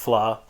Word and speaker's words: vla: but it's called flaw that's VLA but it's pronounced flaw so it comes in